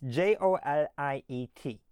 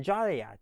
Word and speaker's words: Joliet: Now, you may ask why is it pronounced Joliet rather than Jolliat? You see the beginning part Jolly and then you see an E T. So, Jolliat makes sense. No, it doesn't.